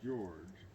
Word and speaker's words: Georg: and a T, and the George is pronounced Georg, and Trout is pronounced Trot.